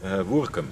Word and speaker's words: Woudrichem: So called Woudrichem by the locals. Woerkum. Woerkum. Woerkum is in Friesland. Sorry. Woerkum is over here.